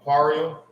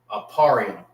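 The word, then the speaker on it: אפרים: Aarium is Ephraim. That's how you say Ephraim in the Hebrew. Aparium.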